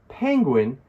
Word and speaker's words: penguin: Penguin has two syllables. The word stress falls on the first syllable, penguin. For a pronunciation guide, you can use this here, penguin. Notice that we place an extra sound on that middle G, penguin, penguin.